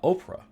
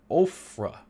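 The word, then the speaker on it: Ophrah: great tree of uh Oprah or ofra I don't know if it's Oprah or Oprah but I think it's ofra the way it's spelled which belonged to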